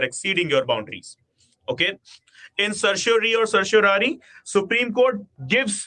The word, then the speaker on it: certiorari: in the Latin phrase, it is pronounced as certiorari. Okay, so even if you are pronouncing it certiorari, it is not wrong. Okay, certiorari or certiorari, whatever, we certify here, it is just opposite of prohibition.